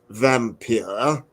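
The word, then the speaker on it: Wampyr: undead that's the title it would be pronounced vampir which is wonderful Bram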